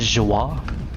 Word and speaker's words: Zhuo: Also, they pronounce it as Zhuo.